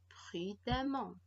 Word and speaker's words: prudemment: est double le m prudemment à attention le eux se prononcent à alors qu'en conclusion on